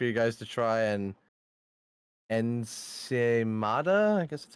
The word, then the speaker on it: ensaimada: Ensaimada? Ah, okay, that's how you pronounce it.